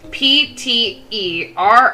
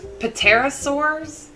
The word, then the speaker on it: pterosaurs: Thunderbird could be a and I really can't pronounce this it is p-t-e-r-o-s-a-u-r-s Terrace paterosaurs was it pterosaurs paterosaurs uh yeah pterosaurs pterosaurs